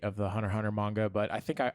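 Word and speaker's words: Hunter × Hunter: because it was called Hunter Hunter with the X in the middle which you don't pronounce um I thought it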